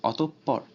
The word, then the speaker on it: অতঃপর: ওকার উচ্চারিত হয়, যেমন অতঃপর। এখানে প এর দ্বিত্ব উচ্চারণ হচ্ছে, আবার বিসর্গের আগে যে ত আছে এই ত এর সাথে ওকার উচ্চারণ হচ্ছে, কারণ এর সাথে কোনো কার নেই।